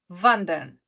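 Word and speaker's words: wandern: o verbo vand né Vander Vander não é Vander Vander porque tem mais do que uma consoante depois dela Vander né w a n d e r n vandera por exemplo eh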